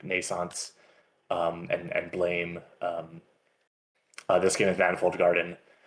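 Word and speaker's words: Blame!: from like Naissance and Blame. This game is Manifold Garden. This is Blame or Blam. I think it's pronounced Blame.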